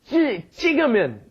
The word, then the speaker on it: 찍으면: Tough one, that double G, that double J pronunciation. 찍으면, 사진 찍으면 안 돼요.